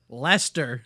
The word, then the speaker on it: Leicester: No, that says Leicester. Lester. It has the same pronunciation as the last name of former Red Sox pitcher John Lester.